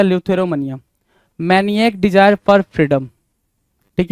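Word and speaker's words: eleutheromania: तो उसको बोलते हैं ल्यूथोरोमोनिया। ल्यूथरोमोनिया बोलते टाइम आप एक चीज नोटिस करेंगे कि ई साइलेंट हो रहा है। ई को क्या करेंगे भाई? साइलेंट रखेंगे तो ल्यूथरोमोनिया बन जाएगा। ल्यूथरोमोनिया।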